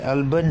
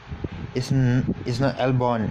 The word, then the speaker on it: Albon: Toro Rosso Rosso, Brandon Hart, Toro Rosso, Albon, and the Torpedo is back. Torpedo is back. So yeah, guess who? Kvyat. By the way, I pronounced the Thai driver's name wrongly. It's not Albon. It's Albon.